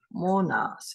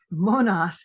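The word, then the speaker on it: μονάς: is it so it comes from a Greek word pronounced almost the same way as this Monas it's latinized as Monas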